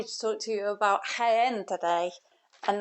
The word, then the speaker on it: Jaén: talk to you about hen today and that's somewhere that is spelled j a en even though it sounds like it's with an H well and first I'd